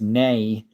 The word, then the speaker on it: nee: As knee is Dutch and knee is pronounced nay.